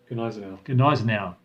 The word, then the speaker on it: Gneisenau: They were attacked by a powerful force, including the Scharnhorst and the, how do you pronounce that, Patrick? Gneisenau.